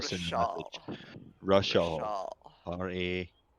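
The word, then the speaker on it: Rishaal: Rashal. Rashal. R-A. Okay. It's R-I. It's R-I-S-H-A-A-L. I typed it just above if you look in Discord.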